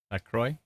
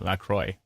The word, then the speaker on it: LaCroix: Oh, I actually nailed the pronunciation of LaCroix. Yay. Linda says, Thamesville's getting hail and wind. Thank you very much. Appreciate it. Lori's got a better way to spell it. CROY, LaCroix. Yeah, thank you.